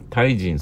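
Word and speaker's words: 大人: 対人っていう言葉大きな人と書いて対人って書きますあの読みますけれども対人そのものの形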